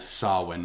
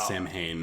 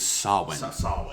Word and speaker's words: Samhain: the fear of halloween i believe the correct pronunciation of that is sawwin not samhain yeah it's from it's spelled sam and then hayne yes yeah that's how it's spelled by how it's pronounced is sawing yeah champagne is from ghostbuster real ghostbusters well